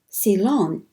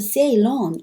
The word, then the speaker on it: Ceylon: The mission to Ceylon, I pronounced Ceylon in the previous slide, but maybe Ceylon might be more accurate.